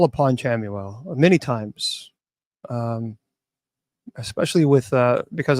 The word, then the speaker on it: Chamuel: Chamuel. Yeah, there are many different pronunciations of her, but Chamuel. Some people say Camuel.